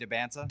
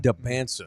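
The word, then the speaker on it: Dybantsa: How do you pronounce it? AJ DeBanza. DeBanza.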